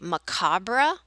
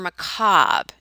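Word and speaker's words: macabre: You can say macabra or macob and leave that re e sound off.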